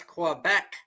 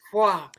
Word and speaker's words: Quebec: I was 17 before I realized how to pronounce Quebec. I thought it was Qua.